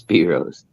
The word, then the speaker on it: Brose: shadow as I said BR Rose will be on from Black Rose Comics all right here we go brose or is it Bros it's BR Rose it's spelled like Bros yeah very clever hi